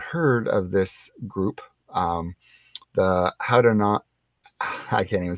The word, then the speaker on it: Haudenosaunee: pronounced Haudenosaunee. Haudenosaunee.